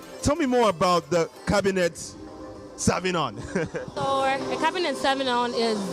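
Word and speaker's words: Cabernet Sauvignon: It's the Cabinet Sauvignon. Cabinet Sauvignon. Like, not like Cabinet Minister or anything like that.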